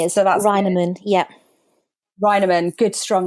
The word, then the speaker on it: Reinemann: holiday with so welcome to the podcast roiderman hi did I say your last name yes